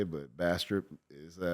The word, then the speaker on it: Bastrop: A lot of people struggle to say it, but Bastrop is how you pronounce it.